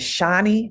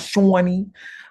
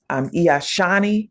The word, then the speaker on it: Shawnee: My name is Shawnee, not Shawnee. I'm Shawnee.